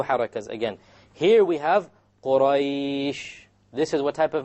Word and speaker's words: Quraysh: Look at Quraysh, you have the ya which is silent, and you have before it is a fatha. So I did it in this case 5 harakas.